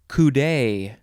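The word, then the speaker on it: coudé: chip fry me up boing next word is kudai c-o-u-d-e there is an accent on the e which is down on the left and up on the right adjective from circa 1889 who it's a long definition kudai of relating to or being a telescope constructed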